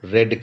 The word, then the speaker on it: read: Here रेड spelling same रहता है, READ ही रहेगा, और पास्ट पार्टिसिपल ले लीजिए, वहां पे भी रेड करके ही प्रोनाउंस किया जाएगा, it will pronounced as रेड only, दो the spelling are same, spellings are same in the three forms, but the pronunciation will change.